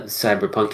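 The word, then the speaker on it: CBR+PNK: I would use to go back to the cyberpunk entries on our list previously is a game it's called I'm going to pronounce it cyber punk but it's spelled CBR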